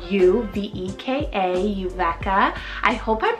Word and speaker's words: Uveka: Uveka, spell U-V-E-K-A, Uveka. I hope I'm pronouncing that one right. I mean, in English, that's how we would pronounce it, but it is a